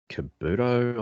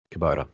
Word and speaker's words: Kubota: Kabuto, I think. Kabuto. Oh, mind my pronunciation. Tilt bucket. Kubota, yeah.